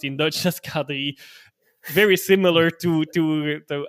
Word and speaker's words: K3: Belgium for mainly for children which is called Kadri. So like with K3 that is actually but okay pronounced in Dutch as Kadi very similar to to to Adel Kad's last name of course.